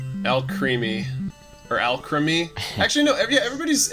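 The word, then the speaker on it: Alcremie: called elk creamy or al creamy actually no everybody's everybody's pronouncing it al creamy but it's like alchemy guys alchemy yeah does it make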